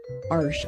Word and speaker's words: Arches: Arches. I learned how to pronounce that.